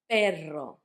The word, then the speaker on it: perro: That's because between vowels you can put two R's and that makes the R sound like R. If you've got two vowels, repeating, you put two R's to make it sound strong. Perro. Because on the third word you can see pero. If you don't have those two R's, it will sound like pero.